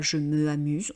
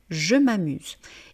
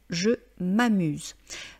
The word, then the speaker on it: je m'amuse: la lettre A, donc on ne dit pas je me amuse, on dit je m'amuse. Et comme dit dans la vidéo sur l'élision, vous devez bien prononcer je m'amuse.